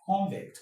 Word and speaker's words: convict: If it's a noun, the stress will be on the first syllable. So, you say I'm talking about con-vict. That man is a con-vict.